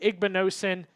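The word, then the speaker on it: Igbinosun: Davidson Igbonosen. Yes, I said it right. Igbonosen.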